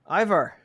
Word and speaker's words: Ivar: Most people go either Ivar or Ivar. In Swedish, you would say Iva, but it's a little too close to Eva. People kind of mishear it, so Yeah.